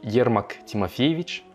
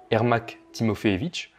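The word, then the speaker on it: Ермак Тимофеевич: commence au XVIe siècle, donc avec Yermak Timofeevitch, donc en français, enfin prononcé à la française Ermak Timofeevitch, qui est un cosaque à l'initiative de la première expédition en Sibérie.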